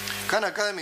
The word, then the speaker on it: Khan Academy: luego escribir por si no saben cómo se pronuncia esto khan academy empezó como un experimento muy interesante hay un